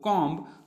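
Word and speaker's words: comb: ए ट हो कॉम तो इसको हम पढ़ते हैं कौन नकली बाकी जो साइड है यह दब जाती है साइलेंट हो जाती है तो हम पढ़ते हैं कॉम क्या पढ़ते हैं कॉम यानी यहां पर हम बीच की साउंड नहीं निकालते सिर्फ हम केवल पड़ते हैं कॉम इसी के तरीके से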